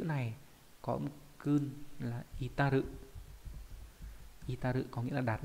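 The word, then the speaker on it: 至る: Thì cái chữ này có âm cương là itaru. Itaru có nghĩa là đạt đến. Còn ghép âm đọc là chi, ví dụ trong từ, ví dụ đồng chí này.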